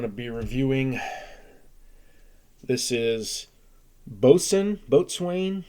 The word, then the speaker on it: Boatswain: be reviewing this is boson boatswain it's pronounced boson hlv ale heavy lift